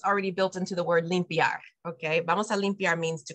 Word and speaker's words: limpia: goes e e b or limpia it's not limpiar Lim it's what those